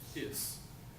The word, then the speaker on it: His: it the bundle of hiss it spelled his but it's pronounced hiss like the snake on Robin Hood yes you've seen Robin